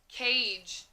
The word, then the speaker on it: cage: a ja cage cage so when i say the word cage at the end i hear ja but in the word cage it is the soft g which says ja c says ca a blankie i hear that long a sound cut a and there's g but it's a soft g so it's going to say j age cage so again when you